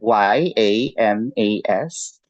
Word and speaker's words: yamas: hole with the yamas and yamas let me spell that um how do you say y y a m a s um that's yamas and then n i y